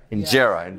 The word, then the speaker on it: injera: Today we're doing some injera. Is that how you say it? Injera? Injera.